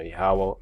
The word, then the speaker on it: Yahawah: then when we say Yahawah you know Yahawah meaning he is he exists or he is to be just to get the understanding you know uh that's the way it's pronounced you know Yahawah of